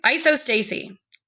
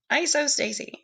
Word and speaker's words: isostasy: make a volcano okay isostasy that's not how you say it isostasy it's isostasy I don't know where